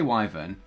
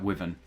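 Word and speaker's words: wyvern: and it's a wyver how do you say Wy I say Wyn and some people say like wyen and I'm going to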